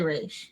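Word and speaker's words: Ra's: it to be fair some people say Raz and other people say re I believe his creator Denny O'Neal says re doesn't he yeah nobody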